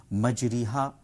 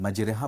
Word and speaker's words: مجریہا: کے بھی جانا ہے۔ مجریہا صحیح تلفظ ہے قرآن کریم کی تجوید کے مطابق، لیکن مجرہا پڑھ رہے ہیں اس میں بھی کوئی حرج نہیں ہے، اس لیے کہ